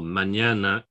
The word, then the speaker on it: mañana: this ñ, as in España, for instance, or mañana, two words you might know, Spain and tomorrow. So it's pronounced like an ny, essentially, together, ña, ña.